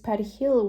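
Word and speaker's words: perejil: The Dominicans pronounce it Pedihil with a truly Spanish R.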